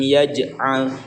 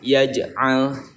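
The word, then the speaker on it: يَجْعَلْ: Alam yaj'al, yaj'al, jadi ada pantulannya ya, tetapi tidak terlalu memantul, nanti berbeda dengan huruf qalqalah kubro ya di akhir kalimat.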